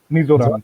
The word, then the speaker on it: Mizoram: Mizoram, correct.